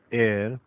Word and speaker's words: heir: ये जो एयर होता है इसकी स्पेलिंग होती है HEIR, याद रखिएगा, एच नहीं बोला जाता। तो कहते हैं एयर, एयर माने वारिस।